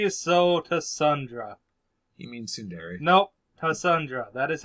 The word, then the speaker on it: Tsundere: Yeah, she's a Tassundra. Oh, Burke. She is so Tassundra. You mean Tsundere?